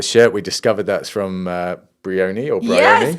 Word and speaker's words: Brioni: And the shirt, we discovered that's from Brioni or Brioni. Yes, Brioni. Yeah. We can pronounce that correctly now.